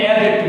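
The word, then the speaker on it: adjective: অ্যাডজেক্টিভ কে আমরা উচ্চারণ করব কি, অ্যাডজেক্টিভ, কারণ টি এর উচ্চারণ অনেক ক্ষেত্রে হয় না।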